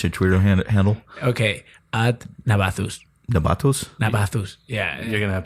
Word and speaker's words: Navazus: Okay, at Navathus. Navathus? Yeah. You're gonna have to spell that in the American alphabet.